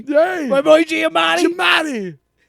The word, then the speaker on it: Giamatti: Giamatti. It's too many syllables. It's Giamatti. Like Giamatti. Don't be Giamatti. It's Paul Giamaggio.